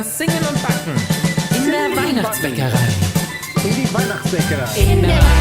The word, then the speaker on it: Weihnachtsbäckerei: Singen und backen in der Weihnachtsbäckerei.